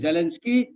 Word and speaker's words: Zelensky: So it's Zelensky. So I heard you said sky just now. So I was thinking, how am I to get you to understand that it is not sky, but ski.